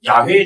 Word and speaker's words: 야훼: 이 부분이 나오면 야훼라고 읽지 말고 주님이라고 읽고 넘어가라, 아도나이라고 읽고 넘어가라는 표현인데, 그 야훼의 자음과 아도나의 모음을 합치시면 뭐라고 읽혀지냐면 여호와가 나옵니다.